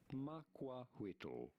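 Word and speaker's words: macuahuitl: Makwahuitl. Makwahuitl. Makwahuitl. Makwahuitl. Makwahuitl. Gotcha. Shall be formally known these nuts weapon. Makwahuitl. So it's like Quetzalcoatl. Quetzalcoatl.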